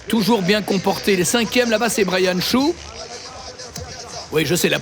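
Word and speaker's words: Hsu: Ça s'écrit H S U en langue taïwanaise, on le prononce chou.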